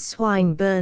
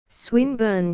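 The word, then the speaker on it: Swinburne: swatted meant this man's swine bur he began attempting to put his plan into execution and pronouncing the iong who swine bur he repeated with the same mispronunciation the poet swinburn she corrected yes that's the chap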